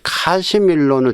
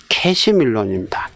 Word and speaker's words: 캐시밀론: 이 카시밀론을 정확히 쓰려면 캐시밀론입니다. 캐시밀론. 그렇죠?